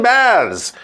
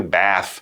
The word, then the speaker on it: Bath: That's how we also use that term with Roman baths.